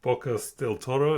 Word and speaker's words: Bocas del Toro: Bocas del Toro.